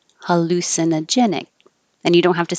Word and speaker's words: hallucinogenic: see we started with hallucinogenic hallu lu is secondary stress so it'll be a little longer hallucinogenic hallucinogenic and you don't have